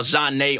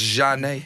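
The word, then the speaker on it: Jhené: ours yeah vinyl's everywhere i saw john nay on the wall john nate i was like oh it's pronounced jeanne yeah and it says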